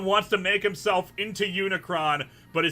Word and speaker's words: Unicron: and a comic geek i don't like earth unicorn namely because uh you can't do giant robots